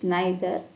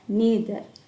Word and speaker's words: neither: in sentence uh neither we can pronounce this word in both ways neither or neither n e i t